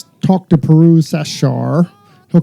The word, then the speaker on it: Sarshar: sit down with Pirooz Sarshar. Is that how you pronounce it? So after 20-some years of knowing each other, you still don't know. I'm kidding. No, not many people know, but it's Sarshar. Sarshar.